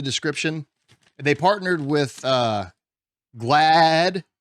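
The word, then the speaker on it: GLAAD: they partnered with uh glad and that's g-l-a-d so that's not me just mispronouncing glad it's glad there's two AAS uh uh I don't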